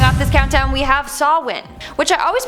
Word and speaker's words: Samhain: the video starting off this countdown we have sawwin which i always pronounced as samhain but apparently it's sawwin don't know how but okay anyways this was